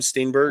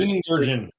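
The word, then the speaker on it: Steenburgen: Steamberg. Steen.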